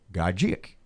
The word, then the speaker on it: Gajic: box guy I said ask him how he says his first name and he does and he says it's pronounced Gajic Malakian mmm-hmm so I